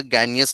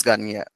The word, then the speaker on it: Gagné: Okay, who is this Gagne? And what's its weird name? It is like a French pronunciation, but we are using English pronunciation. Who is this Gagne?